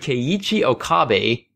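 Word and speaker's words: Keiichi Okabe: been wondering about that one for years but ke Chi Okabe is back composing the successor to near the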